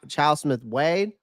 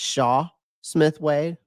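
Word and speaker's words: Chau Smith-Wade: a lot about was Chow Smith Wade, or Shaw Smith Wade. I've been pronouncing it wrong. I've been saying Chow. It's Shaw Smith Wade.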